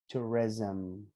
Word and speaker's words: tourism: This is more like t, like a u, re. Tourism.